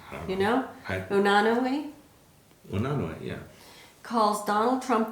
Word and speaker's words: Unanue: Unanue?